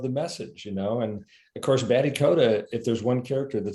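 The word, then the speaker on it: Batty Koda: Yeah, he was Batty Coda.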